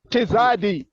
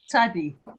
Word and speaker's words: Tzadi: Chaf, Lamed, Mem, Nun, Samek, Ayin, Mm, Pei, mm, Fei, Tizadi, Tzadi. Just tzadi. Tzadik, Yeah. Tzadik, TS together.